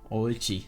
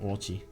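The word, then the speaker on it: Ouchi: Oichi. That's how you say his name. Yeah, it's not Orchi because O-U... Oh, it couldn't... O-U-C-H-I. That would be Orchi, but no. Orchi.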